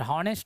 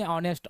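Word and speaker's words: honest: हॉनेस्ट नहीं बोलते, ऑनेस्ट अर्थात एन होगा।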